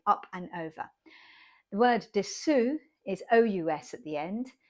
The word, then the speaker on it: dessous: Dessous is spelled S-U-S. So it's a bit of a kind of squished sound at the end, and it's just US on the end.